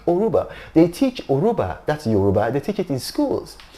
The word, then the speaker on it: Yoruba: know i i i i wasn't even aware that it was yoruba because the why is silent maybe because for a long time they or they speak yoga with a spanish accent so it's uruba aruba